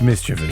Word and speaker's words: mischievous: It's mischievous, Okay. for sure. Because it's like mischief. Yes. Then instead of saying mischievous, that sounds a little weird, so we change it to like a V sound.